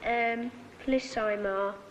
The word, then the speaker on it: amplissima: Uius est Civatus longi amplissima. Amplissima, Latimer. Ema, not Ima.